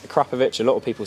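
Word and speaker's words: Akrapovič: Yes, it's pronounced Akrapovic, a lot of people say Akrapovic is how you pronounce it.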